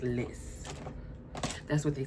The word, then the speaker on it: Lice: It's spelled L I C E, but I looked it up and it it is pronounced Liss.